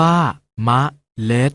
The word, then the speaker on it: เมล็ด: ออก เสียง ว่า ขนน เมล็ด ออก เสียง ว่า เมล็ด พันธุ์ มา รู้ จัก กับ